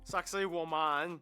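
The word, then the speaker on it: Sacsayhuamán: fascinating sites this one you're kind of supposed to pronounce it like sexy woman sexy Wan there's also so many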